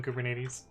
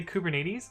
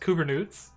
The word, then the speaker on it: Kubernetes: Oh, yeah, so we had a joke at on my team that it was pronounced Kubernoots because there were various people that would not pronounce Kubernetes correctly. And the other one that we went with was Kubernetes, like diabetes, but but with Kubernetes. But yes, that is how you pronounce it.